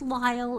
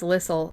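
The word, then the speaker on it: Lisle: It's l i s l e. It's pronounced Lyle. It's Carlyle without the car and nobody ever mispronounces Carlyle, but everybody gets Lyle wrong. Yeah, they think it's Lissle.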